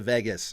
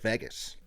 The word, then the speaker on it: Las Vegas: You're saying Vegas, like vegetable.